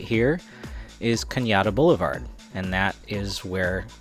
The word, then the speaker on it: Cañada: Yes, that is Cañada. It is not Canada. I know it looks like Canada. It's spelled like Canada, but it's pronounced Cañada.